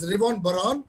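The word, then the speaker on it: Reuven Bar-On: this is gentleman professor revon baron the pronunciation is reborn baron he made this he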